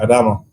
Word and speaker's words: Adamo: Yeah, Adamo.